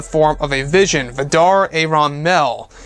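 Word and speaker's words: Ayeron: of a vision, Vidar Aaron Mel. So, I'm pretty sure that's how you pronounce the middle name. It's A-Y-E-R-O-N.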